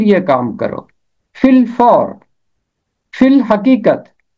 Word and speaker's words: فی الحقیقت: میں ہے فی الحقیقت۔ یہ مرکب لفظ یہاں پر چھوٹی اے اور الف تلفظ سے خارج ہو جاتا ہے، اور فے کے نیچے